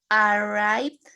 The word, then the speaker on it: arrived: Arrived. Arrived. Con esa D bien pronunciada, ¿verdad? Al final.